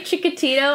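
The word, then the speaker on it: Chikatilo: on october 16th 1936 every time you say chicka tito i think um tell me the truth oh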